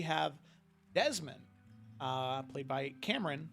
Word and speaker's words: Cameron: desmond uh played by cameron spelled with an e-r-o-n not just r-o-n um which now it says on the stream cameron not by cam ron exactly so yeah cameron um